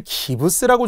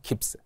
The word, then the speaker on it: 깁스: 자, 깁스를 기브스라고 종종 많이 이야기하더라고요. 깁스 알겠죠? 일본식 발음 받침없이 기브스 이렇게 하지 말고요. 깊스 나르시즘 자도치를 뜻하는 나르시즘이 바로 영어의 원래 발음이잖아요.